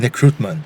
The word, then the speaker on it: Nekrutman: Nekrutman. That is correct, and I'm actually shocked because almost everybody in Brazil has said it correctly. Yeah? And nobody in America can. Really? Everybody says Nekrutman or like some other variation.